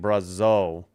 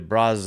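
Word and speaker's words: Brazeau: I was sort of saying it right, but I think I was saying Brazo. It's really Brazo.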